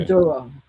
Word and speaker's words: Maduro: Maduro. Mhm. A lot of people was upset when he napped Nicolas Maduro and brought him to the United States.